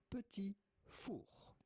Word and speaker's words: petit four: It in French, in France, we would call them petit four. The T at the end of petit is definitely silent, so do not say petit four, but rather petit four.